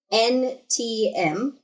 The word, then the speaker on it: Quntm: I got There Is No Anti-Memetics Division by, I believe it's pronounced Quantum. Quntm, which is actually just like an internet name.